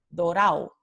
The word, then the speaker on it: dorado: Entre muchos hablantes dialectales del español, esta palabra dorado, vemos que la transcripción fonémica es dorado, pero la verdadera pronunciación para muchos hablantes es dorao, dorao.